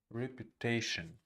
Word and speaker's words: reputation: Reputation, reputation, reputation. Reputation. Repu is unstressed. The first two syllables is unstressed, and the third syllable is stressed.